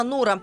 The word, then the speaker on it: Нора: Не Флора, не Элеонора и не Лера, а именно Нора, с ударением на первый слог.